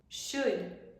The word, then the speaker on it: should: se pronuncian casi igual no vamos a pronunciar ar la l would could should y el último verbo